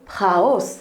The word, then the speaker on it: Prahaus: je vais vous présenter la marque prat hausse donc prononcé raus il s'agit d'une entreprise